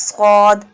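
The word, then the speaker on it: صاد: The first letter of the third word is sad. The pronunciation of sad is from the tip of the tongue touching the inner edges of the top two and bottom two front teeth.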